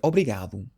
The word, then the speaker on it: obrigado: The phrase thank you in Portuguese is obrigado. Obrigado. But if you're a female, you would say instead obrigada. Obrigada. So you change the O to an A. For example, obrigado pela ajuda. Obrigado pela ajuda.